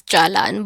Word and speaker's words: jalan: it as good thing they pronounce it as Jalan but we pronounce it as dalan and there are words